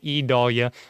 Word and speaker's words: Idalia: well so looking at idalia yes it's an e not an i e Dahlia that's how it's spelled